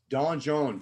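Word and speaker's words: donjon: i don't need to don john d-o-n-j-o-n is how you spell it in french and so all the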